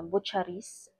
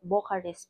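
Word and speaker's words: Bucharest: So yung location daw nung pagtatrabahuan namin doun mga kabig sa ah buchais ano no bocares pala yung pagbigkas non kasi hindi ako familiar sa mga ano eh sa mga ano nila world word mga salita nila ganun.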